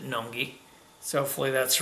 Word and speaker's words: Nøgne Ø: it was brewed by nungi uh in Norway with collaboration with terapin and I believe I pronounced it correctly because I watched a video and Spike pronounced it n noi so hopefully that's right